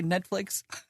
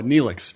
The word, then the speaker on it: Neelix: Did you mean to say Netflix? Oh, is it not net? Oh, Neelix, right. Well, it's spelled almost exactly the same fucking way.